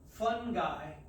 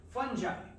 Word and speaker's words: fungi: okay and i know people like to say fun guy but that's not how it's pronounced it's incorrect it's fungi okay from the term fungus we don't say